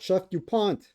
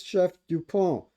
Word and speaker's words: Chef-du-Pont: It's not chef dupant. Stop that already. I know you're American. You don't speak French. Some of you do, but stop pronouncing it. Chef Dupant. It's Chef Dupont as in or something to that effect.